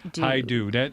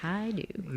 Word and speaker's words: Hajdu: I'm gonna learn how to pronounce that name. I promise. Hajdu. That you take it that simple, it's easy. Hajdu.